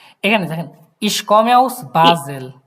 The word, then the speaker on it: Basel: ফার্স্টে থেকে এখানে দেখেন, ইশ কমে আউস বাজেল, এ- এস থাকলে আমরা কি উচ্চারণ করবো? জেড। ওকে, জেডের মতো ইশ কমে আউস বাজেল বাজেল।